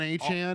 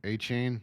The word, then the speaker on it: Achane: Can you name a Miami Dolphin outside of Devon Achane?